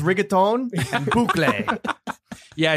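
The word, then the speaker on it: bouclé: It's pronounced rigatón and boucle. Yeah, it's boucle.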